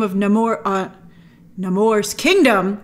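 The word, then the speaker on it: Namor: it's incredible but uh no more and that's how that's how they pronounce uh nemour in the film but no more and his people present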